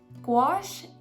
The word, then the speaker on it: gouache: And so gouache, which rhymes with squash, if you didn't know, that's how you say it.